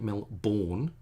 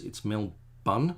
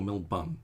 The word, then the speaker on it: Melbourne: So instead of pronouncing it Melbourne, like no one's born, it's Melbun, like a bun, like a man bun, or a burn, like the whole of the West Coast is burning. It's Melbourne or Melbun would get you there to the same thing.